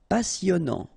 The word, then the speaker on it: passionnant: Okay, here you pronounce the double S because you've got a vowel, so it's really a strong one. Passionnant. Final T not pronounced. And then here you get this en sound.